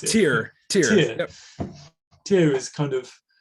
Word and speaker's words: Tyr: How do you pronounce it? Tyr.